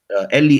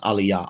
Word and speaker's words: Eli: Eli, Eli, or in the proponents of Lashawan Qadash would say, no, it's pronounced Aliyah, Aliyah. But here's the thing. Suppose we were writing down how we think they're pronounced in the Latin script, right? In the Roman script. So they would write A-L-A-Y-A, right? For Aliyah, and I would write E-L-I. We would write E-L-I for Eli, right?